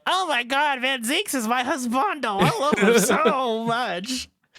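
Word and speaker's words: van Zieks: you know what and his name is usually actually pronounced van Zeeks benzeeks yeah in the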